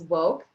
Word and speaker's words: WOCC: of color and cannabis so that's woke wocc um pronounced spoke as in w-a-w-o-k-e and um because we